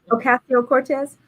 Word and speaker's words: Ocasio-Cortez: is ocasio i don't is that how you pronounce her name acacio cortez yeah ocasio-cortez it's a discussion draft to reform the eviction